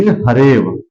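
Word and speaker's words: हरेऽव: ये जो अ है, यह आपका साइलेंट हो जाएगा, इसके स्थान पर अवग्रह आ जाएगा, ये और व, तो इसे हम पढ़ेंगे हरेव। क्या पढ़ेंगे, हरेव।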